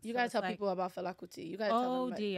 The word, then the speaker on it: Fela Kuti: You gotta tell people about Fela Kuti.